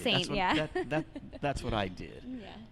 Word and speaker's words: S41NT: It's S41NT. It took me a long time to pronounce that as Saint. They had to tell me. I had no idea how to pronounce that. So it's written in leet speak.